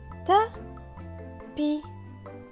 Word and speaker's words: tapis: Le S ici est écrit en gris clair, il ne se prononce donc pas non plus. Donc la phrase c'est pas, lit sur le tapis.